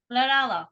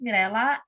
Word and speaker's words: Mirella: Lorella. Oh. You butchered my name, but that's okay. Hi, my name is Mirella, and I think I will put in a box of hockey puck because I love hockey.